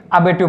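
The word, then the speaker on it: abortive: इसमें जो आर लिखा है वो भी क्या होगा, यहाँ पर साइलेंट रहेगा। इसको क्या पढ़ेंगे, अबेटिव पढ़ेंगे।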